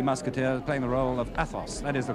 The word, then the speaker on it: Athos: in The Three Musketeers, playing the role of Athos. That is the correct pronunciation, isn't it?